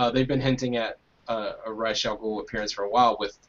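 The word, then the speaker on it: Ra's al Ghul: probably going to be R'as Al Ghul, or R'as Al Ghul, since they're using the animated series pronunciation rather than the Nolan one, which got everyone psyched.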